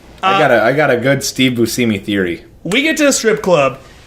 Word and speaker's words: Buscemi: It's pronounced Buscemi.